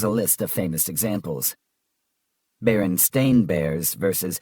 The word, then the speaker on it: Berenstain: Berenstain Bears versus Berenstein Bears. Everyone remembers it being the Berenstein Bears, but in reality, it's Stain.